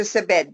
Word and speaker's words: Sabet: So, how about, am I pronouncing, is it Dr. Sabet? Is that how you pronounce this? Yes, name? Dr. Sabet, Dr. Sabet.